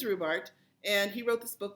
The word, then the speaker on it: Rubart: um he jokes that people say his name all kinds of different ways rubert whatever but it is rhubart and he wrote this